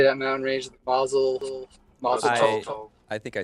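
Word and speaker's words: Mazatzal: Mazel Tov. I think I say it wrong every time. It's either Mazatol or Matazal, one of those two.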